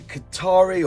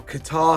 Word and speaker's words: Kotare: Basically, Kotare or Qatar, how you ever want to pronounce it, have announced that they